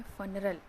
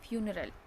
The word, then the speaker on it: funeral: ऐसे हम कई बार पढ़ लेते हैं झटके में फनरल। बहुत सारे लोग सही भी पढ़ते हैं, लेकिन उसको क्या पढ़ेंगे हम असली में, फ्यूनरल।